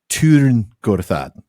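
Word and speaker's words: Tyrn Gorthad: They were talking about the Barrow Downs, but these were elves, so they're going to pronounce it correctly with that U, Tirn-Gorthad.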